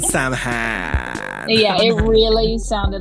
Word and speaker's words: Samhain: It's technically pronounced Samhain. And I'm only saying that. Yeah, I'm only saying that because you don't want to be a poser and walk around and call it Samhain.